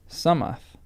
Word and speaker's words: Solmath: It may be noted that Solmath was usually pronounced and somewhat written Sumath.